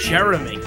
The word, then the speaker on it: Jerome: His name is Jerome. Right? Like Jerome, yeah. Jerome. Yeah. Jerome. Yeah. 1000%. I've met Jeromes. That is how you spell Jerome. Yeah. His parents pronounced it Jeremy.